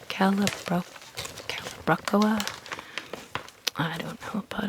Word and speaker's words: Calibrachoa: I have a really hard time pronouncing the name of this flower. It's called Calibrachoa. Calibrachoa.